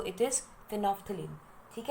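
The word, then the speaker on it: phenolphthalein: इसकी प्रोनाउंसिएशन में कई बच्चों को मुश्किल आती है मेरी तरह. सो इट इज़ फिनोफ्थलीन.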